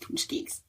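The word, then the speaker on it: pączki: But punchkis, which is funny because if you look at it, it does not look like it should be pronounced that way. But since coming to Chicago, I have learned it is pronounced punchkis. Punchkis are a traditional Polish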